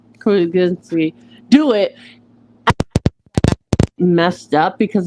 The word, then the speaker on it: Krasinski: And I also agree, because just having John Krasinski, I keep saying his name wrong right now, Krasinski, do it messed up,